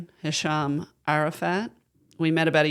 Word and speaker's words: Hesham: And you said, "Yeah, I mean, it's pronounced Hisham."